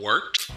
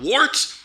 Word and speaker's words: Wort: It is the Wort. Not wart, not fort, not short.